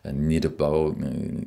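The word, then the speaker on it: nirbhau: mantras chantés en fait nirbo qui qui se prononce vraiment nirbo nirbo un espèce de Bo comme ça mais mais surtout pas Bao parce que ça veut dire carrément autre chose et alors que bon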